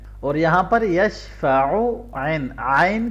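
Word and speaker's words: يشفع: यशफ़अु आइन, ऊ को लंबा नहीं करना, यशफ़अु इंदहु करेंगे गलत हो जाएगा।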